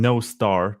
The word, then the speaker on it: Nostr: forgot it yeah makes sense it's popular among Noster users I mean no star that's the way it's actually pronounced and I think the other popular one